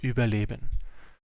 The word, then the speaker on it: Überleben: I think, yeah, it's the Latin alphabet, but yeah, the pronunciation is Überleben.